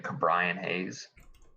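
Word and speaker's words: Ke'Bryan Hayes: the year i have uh pirates third baseman cabrian hayes that's how you say it yeah i saw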